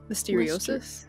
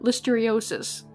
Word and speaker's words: listeriosis: God I got a little seriosis listeria list listeriosis listeriosis yeah that sounds right okay thank you